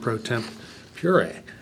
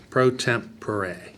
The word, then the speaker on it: pro tempore: procedure, we added the appointment of a president pro temp pure. How's that how you say it? Pro Pure. tempore, yeah. President pro tempore.